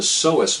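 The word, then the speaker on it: psoas: deep internal muscle called the Seas muscle which is spelled with a silent p in the front the Seas muscle connects your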